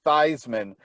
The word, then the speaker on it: Theismann: changed it to theisman because it rhymed with heisman no way oh you